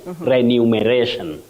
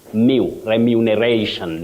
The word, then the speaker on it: remuneration: many people talk about renumeration renumeration no you have REM remuneration not renumeration okay got you Willis